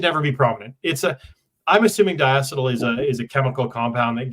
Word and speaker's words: diacetyl: Well, if I'm pronouncing it correctly, it's diacetyl.